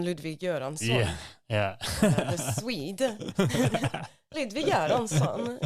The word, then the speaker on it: Ludwig Göransson: Ludwig Göransson. You gotta always say it like a Swede.